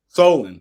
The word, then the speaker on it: Solon: So I, you know, in doing some research about your family, I saw that your father, Solon Page, did I pronounce it right? Solon Page. Solon, okay.